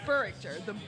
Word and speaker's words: Burrichter: Yeah, make the H a K, and you can say it phonetically. So Burrichter is how I pronounce it. Burrichter. The emphasis is on the burr.